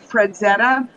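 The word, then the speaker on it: Frazetta: Fredzetta, F-R-A-Z-E-T-T-A, because sometimes I have problems pronouncing things correctly.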